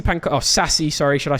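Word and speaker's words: Sacy: really comment on that um so yeah obviously Stacy Panka oh sassy sorry should I say I always pronounce his name wrong I'm sorry sassy pankada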